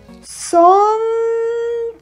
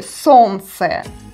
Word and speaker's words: солнце: In this combination, we don't pronounce Л sound.